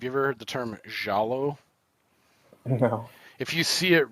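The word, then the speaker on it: giallo: genre called have you ever heard the term jalo no if you see it red if you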